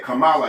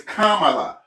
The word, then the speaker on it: Kamala: got mad cuz I called uh I said Camala Harris. What? I said they said her name is Kamala. I said I'll pronounce her name in the damn way I I'll call her.